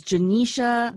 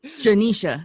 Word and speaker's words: Genecia: your name correctly it's is it genocia yes it's janisha the nissa okay janisha yes janisha and and i